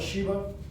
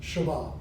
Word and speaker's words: Sheba: location of shabbat now some call it sheba i call it that i'm sure already sometimes i can't help it that's the hollywood thing the queen of sheba it is pronounced shabbat so here we are